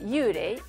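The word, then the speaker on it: yūrei: Fantôme se dit en japonais yurei, il s'écrit en kanji, avec le kanji yu qui veut dire indistinct ou vague, et rei qui veut dire esprit.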